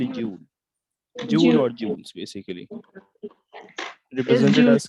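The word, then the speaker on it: joule: no it's it's a jewel it's pronounce as Jewel while for temper I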